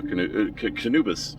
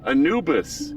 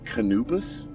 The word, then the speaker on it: Anubis: hey there you go canubus oh my God I just butchered Anubis Anubis the is